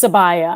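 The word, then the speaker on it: Sabiyah: I'm gonna pick um I believe it's pronounced sabaya I haven't watched any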